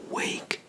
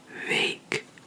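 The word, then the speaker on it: week: in the sense so we would not say Wake we would say wake wake instead of wake we would say vake can you hear the difference I hope so okay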